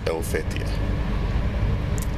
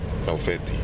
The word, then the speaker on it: Helvetii: You know, in Latin it's Helvetii, but the H is often not pronounced, so it's Helvetii.